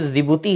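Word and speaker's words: Djibouti: ये जो जिबूती है, हाँ डी साइलेंट है इसके नाम में, ये जो जिबूती है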